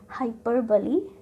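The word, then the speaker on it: hyperbole: ठीक है, सेकंड है मेटाफर, हाइपरबली, नॉट हाइपरबोले या हाइपरबोल, कुछ नहीं है, हाइपरबली।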